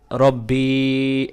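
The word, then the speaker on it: رَبِّي: রব্বি এক আলিফ টান দিবেন। আল্লাহুম্মা আনতা রব্বি লা ইলাহা লা ইলাহা ইল্লা আনতা।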